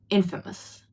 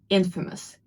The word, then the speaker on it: infamous: Word number seven, it means famous for something bad and it's pronounced as infamous. Infamous. It's not infamous. I know it might seem like it, but it's infamous. Infamous.